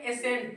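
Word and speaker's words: ascent: अब यहां देखो और जब किसी मीनिंग में एस के बाद अगर सी आता है तो सी क्या रहता है साइलेंट रहता है जैसे यहां देखो यहां हम लोग इसको पढ़ेंगे एसेंट क्या पढ़ेंगे एसेंट ठीक है ना एस एंट क्या पढ़ेंगे एसेंट सी को नहीं पढ़ेंगे ठीक है ना अब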